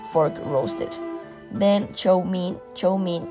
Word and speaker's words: chow mein: Chow mein is the Cantonese pronunciation of the Mandarin chow mian, which means stir-fried noodles.